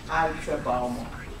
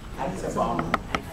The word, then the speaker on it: Aitsebaomo: And one of them, if you really are ethnic and you know how to say it, is Aitsebaomo. Aitsebaomo.